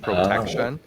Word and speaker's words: Protechtion: Yeah, so our company, it's called Protection, but it's spelled PROTECHTION. So it's like the tech part, TECH, Protection.